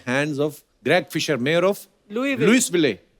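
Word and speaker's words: Louisville: आगे तभी बढ़ेंगे लुईस जब लिखा है तो स क्यों नहीं बोल रहे हैं जैसे नाइफ में क साइलेंट होता है के साइलेंट होता है वो तो के पहले आता है ये तो बीच में घुसा हुआ है बट कई बार लुईस प्रोनाउंस होता है एस के साथ और कई बार नहीं वो कई क्यों नहीं होता है कब होता है ये मुझे पता नहीं है मेयर ऑफ लुई विल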